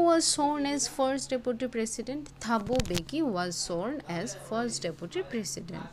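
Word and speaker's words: Thabo Mbeki: থাবুবে বেকি ঠিক আছে এখানে এম টা কিন্তু সাইলেন্ট থাকবে দেন থাবু বেকি ওয়াজ সর্ন ফার্স্ট ডেপুটি প্রেসিডেন্ট সো হু ওয়াজ সর্ন ফার্স্ট ডেপুটি প্রেসিডেন্ট থাবু বেকি ওয়াজ সর্ন ফার্স্ট ডেপুটি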